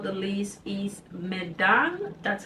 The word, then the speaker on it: Medan: And then last but not the least is Medan. That's how you pronounce it.